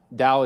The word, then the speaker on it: Tao: mean by that so what is the Dow Dao is spelled t-a-o uh in case you're